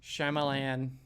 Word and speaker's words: Shyamalan: You said his name wrong. Oh my God, are we gonna do this again? Yeah, we are. So you better say it right. Shyamalan. There we go.